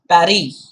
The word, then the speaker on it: Paris: said with asylum s it is pronounced as parry so remember that of course when we do it in english it's always paris yes it's not silent